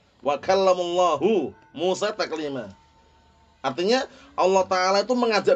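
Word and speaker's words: وكلم الله موسى تكليما: Makanya bacanya mereka wa kallamullaha Musa taklima. Kalau lafdzul jalalah Allah, ya kan? Itu berarti maf'ul bih gitu loh. Sedangkan yang benar bagaimana? Fa'il kan ini. Wa kallamullahu Musa taklima.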